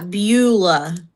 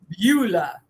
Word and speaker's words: Beulah: Is that how you pronounce Beulah. it? Yeah, Beulah. Beulah.